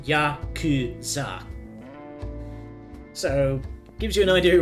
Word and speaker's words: Yakuza: So, fun fact, in Japanese, 893 is pronounced Yakuza.